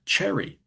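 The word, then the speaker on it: Chery: But also, you've got um, for instance, here's another brand, Cherry, but it isn't spelled with a double R. It's spelled with one R. And that's derived when I spoke to some Chinese people about this who were from that manufacturer. They said it was sort of an anglicized version of the word cheery.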